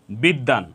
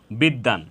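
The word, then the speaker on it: বিদ্বান: এর এর সাথে বফল সংযুক্ত হওয়ার কারণে এখানে দ এর উচ্চারণ দুইবার হয়েছে বিদ্যান তো এখানে আমাদের যেটা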